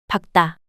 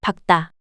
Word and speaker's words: 밝다: 밝다, Is an adjective meaning to be bright in English. Of the complex consonants, only 기억, is pronounced.